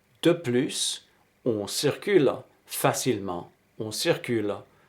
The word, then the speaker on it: de plus: moore et faites attention il faut prononcer le s de plus de plus on circule facilement on